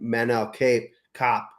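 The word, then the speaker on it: Manel Kape: Last card of the year, Brandon Morval plus 225 fighting Manel Cape Cop.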